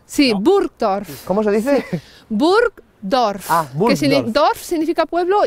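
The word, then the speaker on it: Burgdorf: de buror No sí buror Cómo se dice bur dorf dorf significa pueblo y burg significa Castillo es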